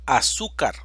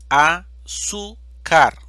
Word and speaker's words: azúcar: la tilde fácil ahora tenemos la palabra azúcar división silábica azúcar sílaba tónica su esta palabra termina en una consonante diferente de n o s y exige el uso de la tilde azúcar fútbol división silábica